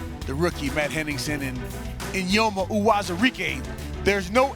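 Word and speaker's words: Eyioma: spencer jonathan congo the rookie matt henningsen and inyoma uwazurike there's no n in there but i asked him how do you pronounce it he told me in yoma and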